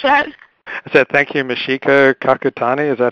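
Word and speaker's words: Michiko Kakutani: Is that Thank you, Mishika Kakutani. Is that how you pronounce the name?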